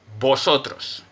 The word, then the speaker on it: vosotros: in official neutral accent there's no v sound there's none it sounds like a b vosotros that's the official neutral